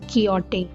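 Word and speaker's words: Quixote: The correct pronunciation is कियोटे।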